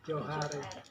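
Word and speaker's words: Djohar: Tapi mungkin karena saya orangnya orang dulu, jadi Joharnya itu, bukan J. Johar.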